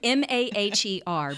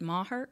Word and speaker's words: Maher: Brett Maher okay yeah it's smaller than mah er but he pronounced it Maher he pronounces it Maher so okay so he